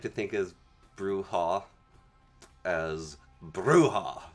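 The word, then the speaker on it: Brujah: It's pronounced bruha.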